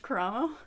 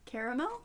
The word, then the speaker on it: Karamo: It's the way I have to physically force myself to say his name Karamo, not caramel, because my mind immediately